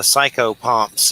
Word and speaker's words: psychopomp: What can you tell us about that, psychopomps?